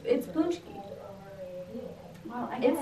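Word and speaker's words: pączki: I think you're pronouncing it wrong. I think it's like Paczki. No, it's Paczki.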